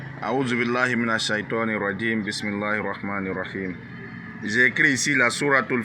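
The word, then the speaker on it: بِسْمِ اللَّهِ الرَّحْمَٰنِ الرَّحِيمِ: Rahmani, on tire un peu le ma. Rahim, on tire un peu le hi. Ouais. Quand je double les voyelles, ça veut dire qu'on doit tirer sur la syllabe. La syllabe est une longue syllabe.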